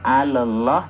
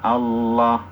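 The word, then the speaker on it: الله: melebur ke huruf syamsiahnya Jadi bukan alah tapi langsung Allah alnya enggak ada Al Il Ul tidak kelihatan hukum yang kedua adalah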